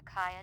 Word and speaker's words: KIA: video disc s to Kaya database oh it's not Kia it's Kaya that's how we're supposed to pronounce it I guess uh